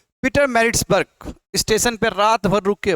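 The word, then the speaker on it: Pietermaritzburg: जी को कहा गया कि आप निकलो प्रोनाउं Peter मैरिट्सबर्ग Peter Peter merits बर्ग करेक्ट यह स्पेलिंग गलत हो गया इसको टिक कर लीजिएगा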